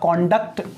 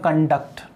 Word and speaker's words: conduct: हो रहा है तो देखो इसका प्रोनाउंसिएशन होगा कॉन्डक्ट और इसका प्रोनाउंसिएशन होगा कंडक्ट।